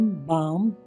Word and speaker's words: balm: LBMFK की आवाज़ से साइलेंट हो जाता है। PALM, पाम, यानी कि हथेली। CALM, काम, यानी कि शांत। BALM, बाम, यानी कि मलहम।